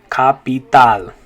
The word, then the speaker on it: capital: we'd say capital capital and once again notice the two a's and that word make different sounds in english but in spanish they're both going to say ah so we're gonna have capital okay capital in english